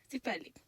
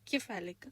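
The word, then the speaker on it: cephalic: और उसके बाद है सिफेलिक या केफेलिक, आप इसको जिस मर्जी तरीके से प्रोनाउंस कर सकते हैं, स्फेलिक और केफेलिक।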